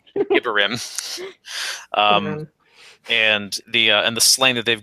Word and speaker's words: Gibborim: They're calling it Gibborim in the show. Yeah, Gibborim. I always pronounced it Gibborim. I always pronounced it Gibborim because it was a comic and I had the choice to go ahead and figure it out. But in the show, and it sounds like gibberish. Gibborim.